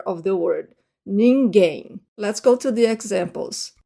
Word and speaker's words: ninguém: Now notice the pronunciation of that final M. To English speakers, it doesn't even sound like an M, right? Ninguém. I do not close my lips when the M is the final, it's the last letter of the word.